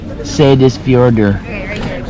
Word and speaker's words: Seyðisfjörður: How do you pronounce it? Good luck with that. Oh, Seyðisfjörður.